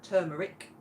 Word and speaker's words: turmeric: Turmeric is now or however you pronounce it is now turmeric. Tur r instead of just tu.